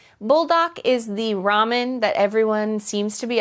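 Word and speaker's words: 라면: It's like ramen or ramyeon, which is what I grew up saying cuz I think that's how it's pronounced in Korea.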